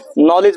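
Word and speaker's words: knowledge: लोग क्या बोलते हैं नॉलेज बोलते हैं तो इसमें भी आपका नॉलेज होता है इसमें के क्या होता है साइलेंट उसी तरह अगर नाइफ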